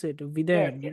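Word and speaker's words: Vidheyan: Is that how Vidhayan. you? Yeah. Is that how Correct. you pronounce it? Yes, Videyan, yes, right?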